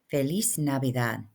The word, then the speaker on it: Feliz Navidad: Feliz Navidad.